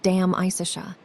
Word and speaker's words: De Amicitia: We have finished Livy and De Senectute, and are now engaged with De Amicitia, pronounced Dam Isicia.